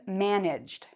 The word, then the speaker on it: managed: It's the same with managed. I managed to do something. Or sorry, it's not the same. In this case, I managed. Where's the stress? In this case, it's on the first part.